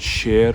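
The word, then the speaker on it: شیر: So Iranians don't differentiate, they pronounce both same by shir. They say for lion shir, and they say shir for milk, where line should be pronounced as sher, because this is majhul sound, which still is common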